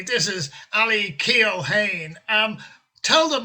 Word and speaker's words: Keohane: You'd say Keohane. Exactly. But I have a sister in Melbourne, so I think she's making moves there, making waves with the pronunciation, just to get it right all over across the globe. Yeah, because people who we would perhaps call Keo, they would call Kehoe.